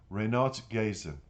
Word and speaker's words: Renat Gaisin: The author of the music, Renat Gazin, I want to say it properly, Renat Gazin, enthusiastically recalls how he suddenly came up with the tune during a night ride around Almaty.